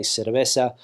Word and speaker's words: cerveza: And when it comes to Latin American Spanish, of course, they say Barcelona, they say cabeza, they say cerveza. They don't speak with the th sound.